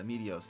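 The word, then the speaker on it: Meteos: Like I know that, like Medios. Right? Oh, is that how you pronounce it? Yeah, Medios, the puzzle game, I guess, kind of.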